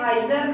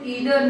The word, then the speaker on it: either: वो इनको बोलते हैं आइदर नाइदर। अभी भी बहुत से लोग बोलते हैं आइदर नाइदर, but according to Oxford advanced learner dictionary, उसमें ये आइदर नाइदर नहीं है, इनका प्रोनाउंसिएशन ईदर नीदर है।